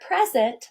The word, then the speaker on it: present: Do you hear that the first syllable pres is stressed? But if I'm going to present you with an award, present, that would be used as a verb. And the first syllable in the word present is unstressed. But when I use the word present as a noun, the first syllable is stressed.